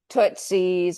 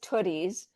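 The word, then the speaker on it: Tootie's: Did I pronounce it correctly? Yeah, I mean, we'll we'll respond to basically anything. We get Tootszies, we get Tooties, but it's Tooties.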